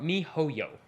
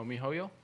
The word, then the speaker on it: miHoYo: MiHoYo. Oh, MiHoYo?